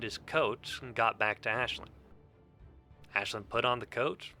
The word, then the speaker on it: Aisling: Unlike Ashlin, who as you can see here, very very clearly says how her name is pronounced.